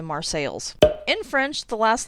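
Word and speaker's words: Marseilles: it on a similar note marsales instead of marseille because of course from what i could find this town was called marseille like the french city in 1835. i have no idea why the pronunciation changed to mars sales in french the last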